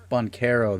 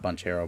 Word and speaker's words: Banchero: left so that way bonkero that's how you say it okay not bunch hero bun carro okay what's up matt